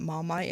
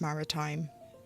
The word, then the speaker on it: Maritime: Also, I keep getting the name wrong of that one colour that I keep calling it Marmite. It's Maritime.